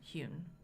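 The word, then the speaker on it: Huhn: And her last name is spelled H-U-H-N, Hune.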